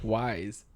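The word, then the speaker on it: Wyze: Wise. Wise, not ways. As far as my understanding, that's how you pronounce it.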